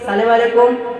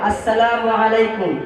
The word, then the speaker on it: আসসালামু আলাইকুম: যে আমায় সালাম দিয়েছ সালামু আলাইকুম এটা সঠিক উচ্চারণ নয় সঠিক উচ্চারণ করে পড়তে হবে আসসালামু আলাইকুম তাই নাকি হ্যাঁ এছাড়া